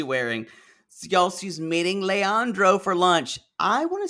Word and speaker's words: Leandro: So, y'all, she's meeting Leandro for lunch. I want to say, you always talk about Leander, that she calls him that.